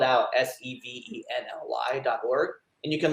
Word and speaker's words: Sevenly: a really great organization it's like seven it's like the num number seven but with an ly at the end but it's spelled out s-e-v-e-n-l-y dot org and you